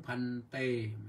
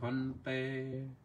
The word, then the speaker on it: ภันเต: ต้อง ออก ฮั นะ ไม่ ใช่ ไป อ่าน เอสาหัง พันเต มัน ไม่ ใช่ อย่าง นั้น นะ ต้อง ออก เสียง ให้ มัน ถูก ต้อง เอสาหัง ภันเต สุจิระ ปะรินิพพุตัมปิ ตัง ภะคะวันตัง